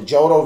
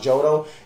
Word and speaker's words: Johto: it took it literally it's called the jodo reason johto region or jotto i think it's johto it's pronounced jodo and it brought this